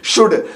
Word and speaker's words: should: यू आ रहा है, COULD, तो कुल्ड नहीं कुड, WOULD, वुल्ड नहीं वुड, SHOULD, शुल्ड नहीं शुड, तो OU आए या ए आए एल से पहले, तो इन दोनों कंडीशन में एल साइलेंट होगा।